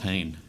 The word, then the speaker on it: Hein: Piet Hein, is that how he's decided to pronounce that? I'd go with Hein.